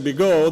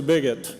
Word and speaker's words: Bigot: resided for many years, could not pronounce French. So they finally just, instead of saying Bigot, they went to Bigot as the way to put it bluntly.